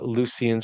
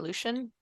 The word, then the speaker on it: Lucian: the Dead in uh lucians or luchian do you know how that that's pronounced the Lu u c i a an if it's ancient Greek I'd say that Lucian um Lucian okay yeah